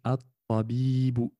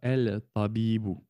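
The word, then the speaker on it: الطبيب: Lorsqu'on veut le définir, on dit at-tabibu, at-tabibu, et pas el-tabibu.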